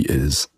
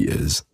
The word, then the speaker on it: is: Can you hear that that S is actually pronounced like a Z?